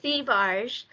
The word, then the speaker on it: Thivierge: So it's Thivierge, but it's French Canadian. So Thivierge is actually the French pronunciation. We also get Thivierge, Thivierge, like it. Yeah, anything, and I'll know what you're talking about.